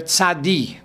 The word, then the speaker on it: tzadi: That is the first way of pronouncing this letter, tzadi. But then there's tzadik.